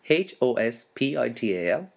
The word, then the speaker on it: hospital: okay now spell hospital h-o-s-p-i-t-a-l as i have said h is silent so hospital and the